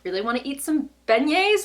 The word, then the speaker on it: beignet: I really want to eat some beignets. Is that how you say it? Not vignettes. Beignets, right?